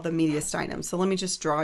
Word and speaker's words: mediastinum: And then this guy right here is called the mediastinum.